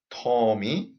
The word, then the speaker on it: 톰이: So the correct sentence is 톰이 책을 사요. And whenever we pronounce 받침 always goes up.